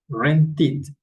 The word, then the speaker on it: rented: Acá es en rent, es una ID, se pronuncia. Rented.